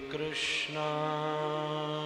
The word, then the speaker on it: कृष्ण: राम राम हरे हरे कई कृष्णा कहते हैं राम कहते हैं इस चीज का ध्यान रखकर कृष्ण और राम का उच्चारण करें हम है राशि